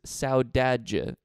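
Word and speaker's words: saudade: just wiki so i i wrote out the pronunciation but i was like if she knows how to pronounce it then i'm not going to look like a fool but if you don't also it was saudaji how did you learn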